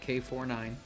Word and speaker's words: K9999: if you look up k9999 pronounced k49 or whatever uh you'll